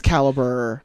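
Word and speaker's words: Calibre: but caliber on Netflix it's spelled like the weird European way it's like see al Li BRE okay caliber a yeah that's caliber okay um but it's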